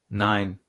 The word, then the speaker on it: Nein: Nein.